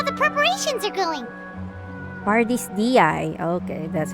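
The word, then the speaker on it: Pardis Dhyai: Party's DI. Okay, that's how you pronounce it.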